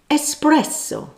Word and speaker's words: espresso: It's nothing to do with express train. Time's up. The correct word is espresso, not espresso.